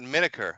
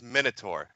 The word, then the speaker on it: Miner: I apologize I I it's not it's not miniker I don't know where you guys are getting that it's minur when you [ __